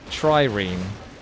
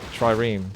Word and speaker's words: trireme: a wonder to deny your opponent having it trireme is how it's pronounced trireme all right trireme good against heavy it's got fortified armor that's